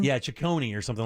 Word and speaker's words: Ciccone: Is that how you pronounce it? Or Ciccione or something like that? Yeah, something like Ciccone. Yeah, Ciccone or something like that.